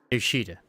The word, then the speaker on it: Yoshida: 아니, 그 글자는 그렇게 읽는 게 아니라 That's not how you read those letters. 요시대라고 읽는 거다. Yoshida. That's how you say it.